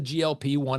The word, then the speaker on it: GLP-1: like peptide that's the glp one it's not pronounced gulp even though you gulp